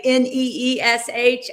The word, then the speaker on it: niche: I know the neesh. Okay, Jim, how do you say it? Niche or niche? Either works.